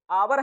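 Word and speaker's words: hour: इसमें आपका लिखा देखिए आवर है और आवर है तो ये होता है जब भैया साइलेंट करना था तो लिखते नहीं तो ना लिखते एच को छुपा लेते तो क्या बच जाता आवर इसका मतलब क्या होता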